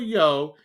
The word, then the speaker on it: Yeoh: This was first reported by Angela Yeoh, and I believe that's how her name is pronounced, but it is spelled Y-E-O-H.